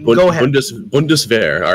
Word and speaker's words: Bundeswehr: Bundeswehr.